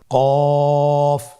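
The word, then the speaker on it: ك: নম্বর হরফটির নাম কাফ কাফ উচ্চারণের ক্ষেত্রে অবশ্যই পাতলা করে উচ্চারণ করতে হবে এবং তিন আলিফ টেনে পড়তে হবে।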